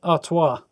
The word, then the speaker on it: Artois: Does anyone know how to pronounce that last bit? Artois. With a bit more of a... I was going to say French accent, but it's actually a Belgian beer, so maybe more of a Belgian accent.